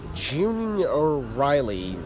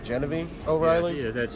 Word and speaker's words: Genevieve O'Reilly: Okay, June O'Reilly. No, I'm not pronouncing it right. Reprising a role as Mount Mouth, though. Genevieve O'Reilly.